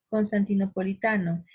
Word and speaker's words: constantinopolitano: En esta palabra larguísima, por cierto, observamos que la mayor fuerza de voz o la sílaba tónica se halla aquí en ta, porque yo pronuncio así, mira, Constantinopolitano. Observamos que en esta ta el acento es más fuerte.